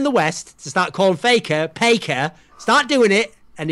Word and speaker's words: Faker: one's thought of so in Korea they don't actually have the letter F so they can't pronounce the letter F right they say p so they Call Faker the best player in